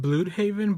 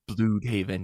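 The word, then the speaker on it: Blüdhaven: nightwing is back and is it bloodhaven or bloodhaven i rarely say it out loud i said bluthhaven but that's because i read phonetically because spanish is my first language yeah so okay so well okay is this blue it has the umlauts on it right so i think it's blue haven yeah okay so he's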